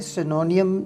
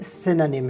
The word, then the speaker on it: synonym: आपने इसे सिनोनियम नहीं प्रोनाउंस करना है, बल्कि ये सिनोनिम है।